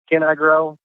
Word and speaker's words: CannIGrow: audience a little tricky it's CA inning I grow and so it's a little play on words there can I grow right you can with